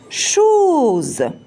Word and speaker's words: chose: sûr, ces voyelles-là, automatiquement, elle va vous donner le son Z. Comme par exemple, chose. Ici, on a mis bien sûr S entre O et E, donc automatiquement, on va la prononcer Z.